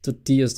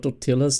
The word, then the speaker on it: tortilla: Tortillas. Not totillas.